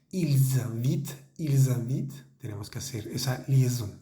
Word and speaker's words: ils invitent: Es importante la liaison. Recuerden, cuando el pronombre termina con S y el siguiente verbo comienza con vocal, por ejemplo en la segunda línea que habíamos dicho, ils invitent, tenemos que hacer esa